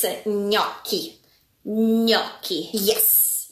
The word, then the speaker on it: gnocchi: Gnocchi? Oh. Okay, let's do it again. It's a gnocchi. Gnocchi. Yes. Nochi. Nope. Gnocchi. Go, gnocchi, gno. Gnocchi. Yes. GN is a ny sound. Yes. Like onion.